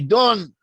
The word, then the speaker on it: Dan: with dan or dawn in hebrew the pronunciation of the name dan can also be dawn so it's a dialectical